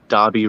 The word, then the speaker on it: Darby: It's actually Darby 02. So it's spelled D-A-R-B-Y, and then, then 02. I think it's the same as me Twitter handle as well. So it's like Darby O'Gill and the Little People.